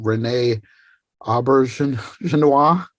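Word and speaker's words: René Auberjonois: And then I think also I'm gonna butcher the pronunciation, Renee Aubergenois.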